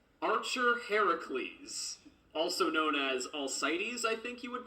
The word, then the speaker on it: Alcides: It's a hard C in Greek, so it'd be Alcadis. Alcadis, something like that.